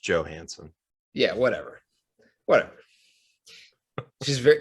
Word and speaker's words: Johansson: and several other stars you do this every time you say her name it's just joe hansen yeah whatever whatever she's